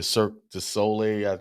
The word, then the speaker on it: Cirque du Soleil: We also saw this show, Michael Jackson's One, the Cirque du Soleil. That's how you pronounce it.